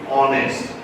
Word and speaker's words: honest: hest you know ha h is not being pronounced you're saying honest so it is a